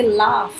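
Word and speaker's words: laugh: कभी कभी GH से फ की भी आवाज आती है, जैसे लाफ, रफ।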